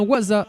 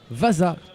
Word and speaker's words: Waza: signe, c'est Billy Vin, c'est bien Waza et pas Vaza, le numéro 77.